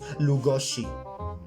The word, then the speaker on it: Lugosi: My Hungarian friend Endre taught me how to pronounce it, Budapest, and that's how you also pronounce Lugosi.